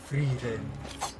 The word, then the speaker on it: Frieren: I love Frieren. Frieren. As they pronounce it.